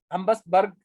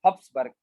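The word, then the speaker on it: Habsburg: ठीक है, Austria Hungary empire को हम हम बस हम्बसबर्ग एम्पायर भी कहते थे, हब्सबर्ग, इसको सही प्रोनाउंस करें तो हब्सबर्ग, HABS मैं लिख देता हूँ, हब्सबर्ग।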